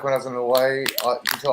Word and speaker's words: Hawaii: Yeah, it's kind of like when I was in Hawaii. You tell all the locals pronounce it with a V, and all the tourists say with a W.